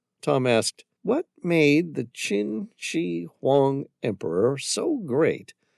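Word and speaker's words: Qin: Cena derived from the name of the Chinese Chin Dynasty pronounced chin which was translated as Sin by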